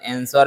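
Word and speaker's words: answer: लोगों को बताना चाहते आंसर में जो डब्लू होता है वह साइलेंट रहता है तो ऑप्शन डी सही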